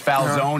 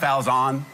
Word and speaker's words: Falzon: stop mispronouncing your name, even though there's no E at the end, that it's Falzon and not Falzon?